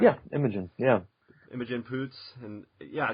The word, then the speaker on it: Imogen: Yeah, Imogen.